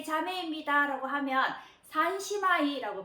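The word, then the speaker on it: 三姉妹: 그래서 뭐 세 자매입니다 라고 하면 산시마이라고 발음을 하시면 되겠는데요.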